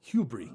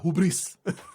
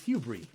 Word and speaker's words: hubris: indulge on is that pretty sure that's the way you pronounce that word hubris right it's not hubris like my Spanish brain wants to say is Hugh Brie there's a man here